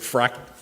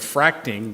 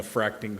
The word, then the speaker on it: fracking: it fracking? I kept thinking of fracting, but I don't. It is fracking. It's fracking, right?